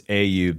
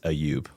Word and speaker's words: Ayub: Ayub, right? Yes, sir. I feel like I'm saying that wrong. I'm saying So the English pronunciation is Ayub. The Arabic pronunciation is Ayub.